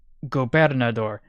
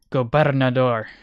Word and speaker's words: gobernador: repost the 410 lador is it goad door that's better I'm supposed to roll the r aren't I go one of these days I'm going to pronounce it correctly go door actually you know what it might be a better idea to just Che translate switch over to Spanish let's see how it's supposed to be pronounced goor oh yeah there is a role in the r gobernador there we go carter 100K praying